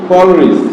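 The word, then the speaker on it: Coleridge: জে ইউ ডি জি জাজ, সি ও এল ই আর আই ডি জি ই, এটা উচ্চারণ হবে কল রিচ, কি হবে কল রিচ।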